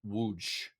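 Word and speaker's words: Łódź: by a Z with an accent but it's pronounced wooj wooj Poland.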